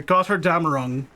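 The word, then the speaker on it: Götterdämmerung: The Gotterdammerung.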